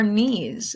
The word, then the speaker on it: knee: get down on your knees that is called kneel that is the verb right Neal has a silent K and the part of your body is your knee which also has a silent K K and EE so